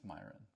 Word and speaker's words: Mairon: It's not spelled like you'd think, but it's Myron.